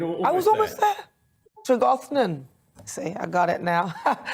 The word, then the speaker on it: Tregarthen: Jonathan James is a managing director at Tregarthen. I haven't said that right. How do you say it, Jonathan? You're there in Cornwall. Tregarthen, Nana. You're almost I was almost there. Tregarthen.